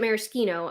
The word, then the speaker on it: maraschino: Greg from How to Drink pronounces it maraschino. I'm going to say that he probably has the correct pronunciation of that particular spirit because he knows his shit.